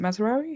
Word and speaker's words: Mazraoui: Yeah, I've seen Mazraoui. Is it Mazraoui?